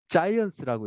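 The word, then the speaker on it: Zajonc: 세 번째 이론이요. 자이언스라고 읽어요.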